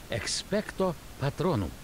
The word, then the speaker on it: Expecto Patronum: Заклинание произносится так. Expecto Patronum.